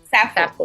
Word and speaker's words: Sappho: I don't want to mispronounce her name, so I would want to ask you, how do you pronounce it? It's Sappho. Sappho.